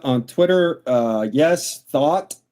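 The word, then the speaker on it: Thoth: I go by Atlantic Thought on Twitter. Uh yes, thought like the thoughts in your head is the way you pronounce the word thought.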